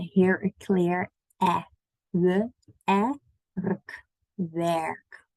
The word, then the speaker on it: werk: Okay, werk. So not work, twerk. So it sounds like a lot of people say twerk without the T, work, and make it sound like the work, but it's an eh here.